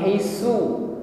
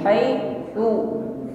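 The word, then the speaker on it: حيث: Perhatikan di sini huruf ta, jangan diucapkan sama dengan huruf sin, bukan haisu, su, tidak dengan bunyi desis, ya. Ta hanya diiringi dengan sifat hamas nafas yang mengalir. Sa, ti, tu, bukan haisu tetapi haitsu.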